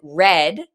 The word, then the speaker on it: read: But because we have wrote, we definitely know it's in the past, and we pronounce it read, even though they're spelled the same, because it's the past, the simple past.